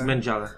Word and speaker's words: Mengele: It's Mengele. Is it? Oh, Mengele. Oh, there you go. There's the pronunciation.